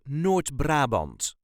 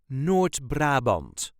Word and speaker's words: Noord-Brabant: accent the province of n brabant this is the way as duchies say n brabant n brabant there is a very slight emphasis on the first syllable of the second word n Brant n bra